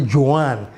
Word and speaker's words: Juan: You know, if you're called Juan, it's actually Joan.